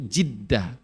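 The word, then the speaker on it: جدة: nenek dalam bahasa Arab atau kadang-kadang pronunciation-nya itu jiddah bukan zad ada zad ada Jid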